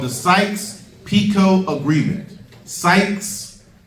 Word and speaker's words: Sykes: Sykes, not like psych, I ain't mean it. Not like that type of psych. But S-Y-K-E. S-Y-K-E. Sykes, S-Y-K-E-S.